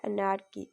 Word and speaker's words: anarchy: in English you can say that anarchy listen pronunciation very carefully a a n a r c h y Anar key okay and next is that diala in English